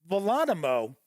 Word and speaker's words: Volonimo: I just keep wanting to say Geronimo, but I believe it is pronounced Volonimo.